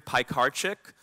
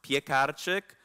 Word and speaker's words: Piekarczyk: present awesome so anyway my name is Pike our chick a great way to remember it is pies cars and chicks I am polish though so it's technically pronounced peek at a chick but I won't hold